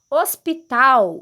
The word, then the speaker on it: hospital: ou horta também heróis são Zinho do e hospital o sonzinho do ou e Harpa o sonzinho